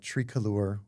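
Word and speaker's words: Tricolor: And I mean in just the last couple of months, so starting in kind of midepptember uh with uh Trialure, which is how it's pronounced, although it sounds very pretentious, um with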